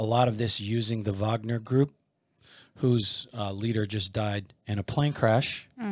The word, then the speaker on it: Wagner: How the Russian mercenary group, it's spelled Wagner, but pronounced Wagner, it's Putin's private army, was behind the coup in Niger.